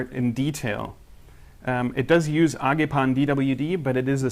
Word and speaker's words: Agepan: I don't know, I'm German, so I pronounce it Agepan the way that they say it over there.